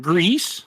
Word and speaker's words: Gris: I think it's just Gris. Agree. You know, I think that is actually right. Yeah, I mean, French, the Spanish pronunciation.